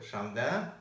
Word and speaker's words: шамда: Но если это долгая гласная, как, например, свой шамда, то она звучит четко. Она звучит как ударная гласная в русском языке и при этом протягивается.